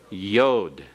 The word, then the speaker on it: yod: the tenth letter is Yoda the smallest letter of the Hebrew alphabet with a Y sound as in the beginning of yes okay let's pronounce these